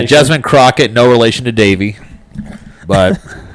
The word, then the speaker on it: Jasmine Crockett: I always want to say her name, Jasmine Croquette. Croquette. Croquette. Definitely not. She's not really. Trying to go with like an Andrew Clavin kind of pronunciation. Yeah, Jasmine Crockett, no relation to Davy, but I mean, they